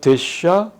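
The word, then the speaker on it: דשא: 그 다음에 한 가지 이제 추가할 거는 알레프가 뒤에 올 때는 소리를 내지 않아요. 그래서 그냥 데샤, 페레, 테네, 페레 이렇게 발음을 합니다. 여기 보면 페레아 어떤 경우에는 이게 아라고 해가지고 페레아로 발음하면 안 된다는 거예요. 페레로 발음해야 되고 데샤지 이거 데샤아가 아니다. 알렙은 이거는 무음이에요.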